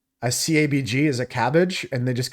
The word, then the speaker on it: CABG: coronary artery bypass grafting it's pronounced as cabbage a cabg is a cabbage and they just call